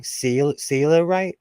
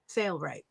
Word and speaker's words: Sailrite: Am I saying it wrong? Sailorite? Sailrite? Yeah. Sailrite.